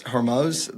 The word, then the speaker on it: Hormuz: Anyway, so like that strait, I don't pronounce it right. It's Hormuz.